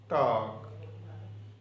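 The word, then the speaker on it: talk: Rule ये है, अगर किसी वर्ड में एल से पहले ए ओ यू आ जाए तो एल साकन या साइलेंट हो जाता है. मसलन वाक, टाक, फोक, फोक कहते हैं लोगों को. साइमन, साइमन मछली होती है. Would, should.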